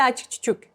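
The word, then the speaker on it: achchiq-chuchuk: Ha, bitta achichuk. So achichuk is written like this, but when we pronounce it, it's less.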